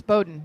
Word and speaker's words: Bowdoin: Is that how you pronounce it? It is Bowdoin. Bowdoin.